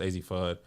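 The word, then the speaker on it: Azzi Fudd: That number 1 pick, I think it's pronounced AZ Fudd.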